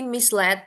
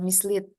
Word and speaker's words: misled: senang terhibur Don't be misled ini bacanya misl karena ini eh verb to misled Bukan mislead tapi l misled Don't be misled by